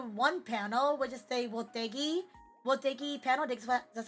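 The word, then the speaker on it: Wotagei: Which is the Wotegi panel. That's how you pronounce it.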